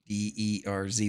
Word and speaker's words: DrZzs: DERZ, which is also how you may pronounce Dr. Z's, depending on how well we're acquainted.